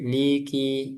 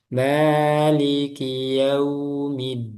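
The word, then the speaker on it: مالك يوم الدين: Maliki, liki, jangan ditasdid. Liki, salah. Maliki yaumiddin.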